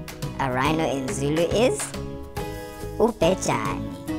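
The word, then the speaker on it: ubhejane: A rhino in Zulu is Upejani. Say it one more time. Upejani.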